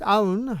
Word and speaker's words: Aoun: On March 2, 2026, President Aoun, I guess that's how you pronounce it, A-O-U-N, declared, quote, only the Lebanese state has authority over questions of war and peace.